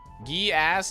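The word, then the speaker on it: Geass: Code geese, I assume, sounds pronounced. Code geese. Code gass, dude. Um, it's a fire shout. I know. It's been um gee ass is correct as far as I know.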